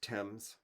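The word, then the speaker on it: Thames: chartered temps does flow temps is the river that runs through London divides the city and it's pronounced temps and Mark in every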